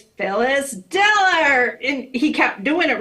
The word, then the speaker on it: Phyllis Diller: The sound guy was trying to read her intro, and he wasn't putting the emphasis on the syllables right. Right. So she said, no, it's Phyllis Diller.